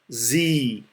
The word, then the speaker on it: Sie: IE is pronounced as double E of English. The sound will be like E, E. So whenever you see the letters I and E together in German, you pronounce the sound of double E of English. That is E.